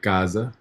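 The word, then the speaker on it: casa: you have where um it sounds like a z like Gaza and as you can tell this is the beginning of the word and this is in the middle of two vowels so when it's like this it's gonna have a z sound Gaza Gaza if it's on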